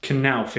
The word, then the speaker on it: Knauf: It's pronounced Knauf insulation, which can be used for acoustic insulation and heat insulation.